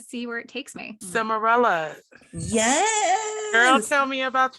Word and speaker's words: Simeralla: Simeralla. Yes. Girl, tell me about yourself and your journey. Okay, so my name is Simeralla.